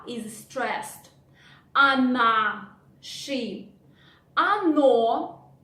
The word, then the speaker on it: оно: Оно, again, the first "o" we pronounce like "a", but the second, which is stressed, we pronounce like "o".